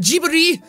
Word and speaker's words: Ghibli: a Ghibli movie almost, or Ghibli, I think is how you pronounce it, Ghibli.